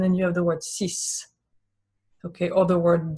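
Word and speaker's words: six: And then you have the word sis.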